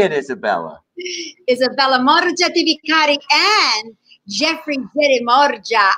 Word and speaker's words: Morgia: Pronounce it for me. Say it, Isabella. Isabella Morgia di Vicari and Jeffrey Morgia.